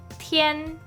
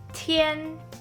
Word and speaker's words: 天: The first one is called 天. 天, which originally means sky. So if you already know, at the bottom part of 天 you see 大, which means big.